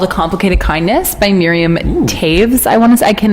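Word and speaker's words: Toews: Canadian book called a complicated kindness by Miriam Taves I want to I can never pronounce it right it's t o e WS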